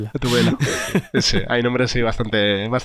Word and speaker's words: Gatubela: No sé ni cómo se pronuncia. Sí. Gatudela. Gatudela, exacto. Bueno. No, Gatubela.